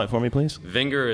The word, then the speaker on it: Vinger: Vinger is like finger with a V. V like Victor, Inger.